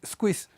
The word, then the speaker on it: Squeeze: y en la misma botella del refresco, Squeeze, squeeze. Y entonces estaba el letrero y decía abajito, pronúnciese squeeze.